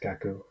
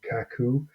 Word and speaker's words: Cacoo: tool called cat poo I think it's pronounced kaku and I've used my